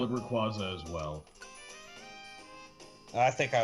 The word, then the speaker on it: Rayquaza: When I was like really little, I used to call it Rayquaza. There's no N in there, but I don't know where I pulled that. I never noticed the Y, so I just called it Rayquaza.